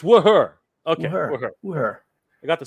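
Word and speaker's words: Wuher: It's Wooher.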